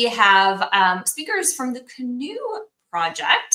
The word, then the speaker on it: CNOE: um speakers from the canoe project so if you didn't know how to say that that's how you say it Cano although they might correct